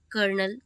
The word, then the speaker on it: colonel: It's colonel.